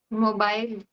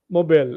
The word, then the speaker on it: mobile: I'll give you a word which is pronounced two ways, in American and English ways. What is this? Mobile or Yeah, mobile. mobile, exactly. Mobile and mobile. That's because Americans pronounce it the way it's spelled.